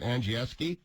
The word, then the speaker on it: Andrzejewski: It's spelled like it's from, like my friends from the old town, and you pronounce it Andrzejewski? Perfect. It's absolutely perfect.